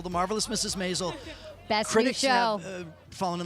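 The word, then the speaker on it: Maisel: basil rhymes with basil the marvelous mrs. Mazal best friend she'll fallen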